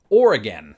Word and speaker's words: Oregon: French probably not who said that his pronunciation was a homophone with the word organ which absolutely does not work with the British accent and this one's weird an inordinate number of people particularly in Florida insist on merging the two words or and again as in or again are you from Florida